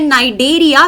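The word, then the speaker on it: Cnidaria: उसके बाद आते हैं नाइजेरिया सी को चुप रखना है साइलेंट है ये फिर है ट्रेट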